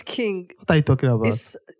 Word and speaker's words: Qing: Queen. This is not Queen. Quing. Uh-huh. Quing is just king.